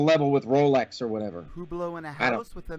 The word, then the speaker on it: Hublot: I believe it's pronounced I believe it's pronounced who blow it's a it's a